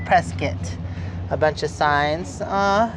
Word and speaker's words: Prescott: at Heart oh pres oh preset that's how it's pronounced we call it preset a bunch of signs